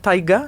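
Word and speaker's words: Tyga: Genre je regardais Kylie le chum de a donné à Kylie Jenner Taiga. C'est comme ça qu'on prononce.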